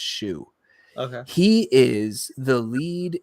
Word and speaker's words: Shou: has it also co-stars robin shoe i believe is how you pronounce it it's either it's s-h-o-u i think it's shu okay he is the